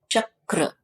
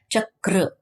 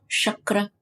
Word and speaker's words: chakra: it is pronounced as chakra see at the end the raw sound is kind of retroflex chakra it's not chakra it's not chakra it's not chakra it